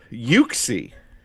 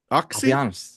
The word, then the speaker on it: Uxie: Yuxie. Is it Yuxie? Oxy. Yeah. I think I would have said. I think it's Yuxie though because the Japanese have it spelled Yuxie E.